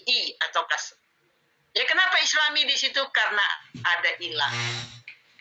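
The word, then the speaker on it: الإسلامِ: Yang Islami, ayatnya apa? Man azlam mimman iftara 'ala Allahil kadhiba wa huwa yud'a ilal islami. Wa huwa yud'a ilal Islam. Kenapa dibacanya Islami? Wajib berbunyi i, wajib kasrah.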